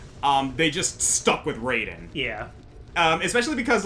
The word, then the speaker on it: Raiden: In Mortal Kombat, the god of lightning is Raiden. Yep. Yep. That is how it is pronounced consistently in Mortal Kombat. Always has been.